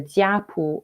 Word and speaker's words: jiapu: So the word that I've been using in my presentation has been usually either jiapu or zupu. I'm using the Mandarin Chinese pronunciation here, which literally means family book or clan book.